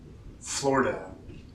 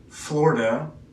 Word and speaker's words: Florida: Florida. Listen to these two pronunciations. Florida, you can see there's almost no I. Florida, Florida, Florida. So you can kind of hear the I.